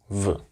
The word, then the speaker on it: в: can call it, because it looks like an English B, but in reality it's a V. So you just pronounce it like a V, V, V.